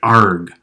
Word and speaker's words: Arg: for this principal argument sort of if you're a pirate argh of z and pronounce it a little more a little more evocatively one caution different books